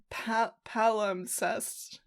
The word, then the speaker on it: palimpsest: Palimpsest. Palimpsest. Palimpsest. There's a P in there. It's a sneaky P.